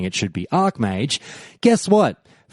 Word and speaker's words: Archmage: were weighing in anyways the final call was for it to be pronounced Ark mage which is what you'll